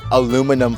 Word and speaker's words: aluminum: Aluminum foil. And you guys pronounce it aluminium? In American English, I think it's like aluminum, which sounds quite cool, but you're missing out all these letters.